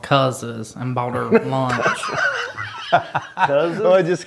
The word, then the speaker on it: Cuz's: And we went to Tazewell, Virginia, and I took her to this nice steakhouse called Cuz's and bought her lunch.